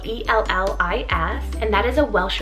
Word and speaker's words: Ellis: to my next name which is the name ls so it's called e-l-l-i-s and that is a welsh originated name meaning